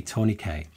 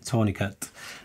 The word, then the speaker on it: tourniquet: And by the way, in the US, you would probably say tourniquet, and that's how it's spelt. But since the word originated in France, in the UK, we actually say tourniquet.